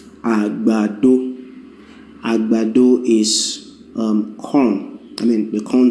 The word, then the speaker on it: agbado: Well, agbado will be, you just go you hum it like that, and that will be do, re, right? There's no me in that, and that's exactly what it is. Do, re, agbado.